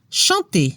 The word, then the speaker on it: chanter: Ejemplos de verbos del primer grupo: parler, marcher, chanter, significa hablar, caminar, cantar. La combinación ER al final de los verbos suena como la E en español. No se pronuncia la R.